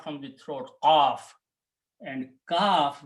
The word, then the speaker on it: kaf: This is qaf, which come out from the throat, qaf, and kaf, which come out from the front of the mouth.